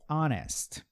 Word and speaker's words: honest: Algumas situações o H não vai ter som, por exemplo, honest, né?